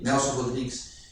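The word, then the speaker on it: Nelson Rodrigues: ele diz o encant Nelson Rodriguez esse aqui parece que é assim a pronúncia ele tem um conceito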